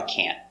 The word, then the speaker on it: can't: We don't pronounce the T hard. Make a stop T. Can't. So just put your tongue up and stop.